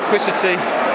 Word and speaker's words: Liquicity: our family from the Maldives right there near kwisa tea incredible I finally said it right took me